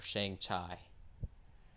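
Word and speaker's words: Shang-Chi: not racist it's not racist to pronounce it shang chi or shang chai if you don't know any better it's not racist right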